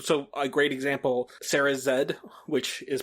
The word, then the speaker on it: Z: And I I think so a great example, Sarah Zed, which is pronounced it's the letter Z but pronounced zed cuz she's Canadian.